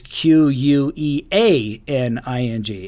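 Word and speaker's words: cuckqueaning: You would think it would be Cuckening, but it's Queaning, and I have no earthly idea why.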